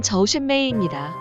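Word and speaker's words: 周炫美: 주현미의 중국어 발음은 저우셴메이입니다.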